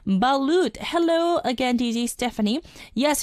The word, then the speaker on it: balut: And myself from the Philippines also saying balut. Hello again, DJ Stephanie. Yes, you said it right. Yeah, I said it right. So it's like balloon, just replace the N with T. So it's balut.